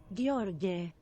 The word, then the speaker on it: Gheorghe: Here's how you pronounce it in Romanian. Gheorghe. Gheorghe.